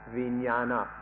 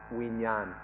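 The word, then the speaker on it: viññāṇa: The Pali word is vijnana, or in Thai it's pronounced vinyan, and it's given different meanings by different people.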